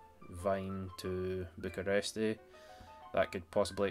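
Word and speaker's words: Wien: Wine? No, it's not Wine. Vine, like V I Geography or pronunciations of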